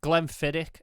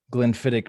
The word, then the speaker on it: Glenfiddich: I think Glenfiddich is the right way to say it.